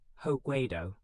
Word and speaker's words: Hokkaido: It comprises 4 main islands: Honshu, the largest; Hokkaido, pronounced Hokkaido, in the north; Kyushu, in the south; and Shikoku, pronounced Ku, the smallest of the 4.